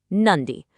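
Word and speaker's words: നന്ദി: It's just two simple syllables. Nundy. Notice the spelling there. You really want to emphasize that soft dish sound.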